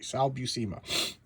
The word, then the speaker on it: Sal Buscema: I actually looked up his pronunciation because it was driving me crazy. Sal Buscema.